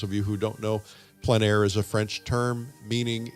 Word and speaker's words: plein air: For those of you who don't know, plein air is a French term meaning in the open air or outdoors. The French pronounce it plein air, others pronounce it plein